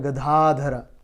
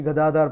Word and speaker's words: Gadadhar: Panchatattva as Sri Advaita Gadadhara. So I'd like to, in respect of Sri Gadadhar Pandit, I'd like to explain the point that his name is pronounced as Gadadhar, not Gadadhara.